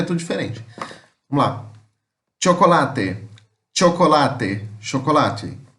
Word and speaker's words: chocolate: Chocolate. Chocolate. Chocolate. A escrita é igual, muda a pronúncia, que aqui fica com aquele som de como se fosse um T com X.